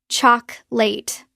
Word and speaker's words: chocolate: Native speakers drop the second O. It becomes just two syllables. Chalk late. Let's practice. First syllable chalk like chalk. Second syllable late but very short almost like lit. Together chocolate. Chocolate. Listen to the stress. The stress is on the first syllable.